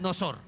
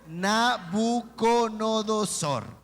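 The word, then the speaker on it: Nabucodonosor: sé los devocionales que les cuesta decir nabuconodosor dicen curos clorosol prosor y otros dicen nosor Bueno no importa como usted pronuncie era nab a ver dígalo conmigo nabuconodosor en fin Pero yo escuch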